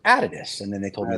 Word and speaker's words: Adidas: of this because oh you guys called Adidas he says but it's pronounced out of this and then they told